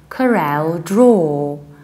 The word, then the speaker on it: CorelDraw: is no weather whenever you have aw you say oh like draw like raw or like law because low means something totally different and that's why we say CorelDraw CorelDraw the American accent